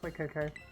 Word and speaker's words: Fuecoco: Fuecoco.